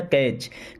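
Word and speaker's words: catch: कैच हिम, अब यहाँ पे टी साइलेंट होता है ना, इसे कैच नहीं कैच पढ़ते हैं क्या, कैच।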